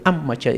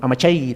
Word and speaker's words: amachay: ama Che ama Che entonces en laama tiene que sonar la mayor fuerza vz H no V a decir amch sino amachay tampoco sino amachay amachay entonces defender defender Qué